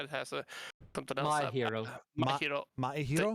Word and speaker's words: Maehiro: Maehiro? The E is silent.